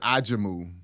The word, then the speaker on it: Ajamu: how hard he tried say aimu that is actually well wait that is actually how his name is supposed to be is that the right actually the correct pronunciation I've been saying it right the whole time we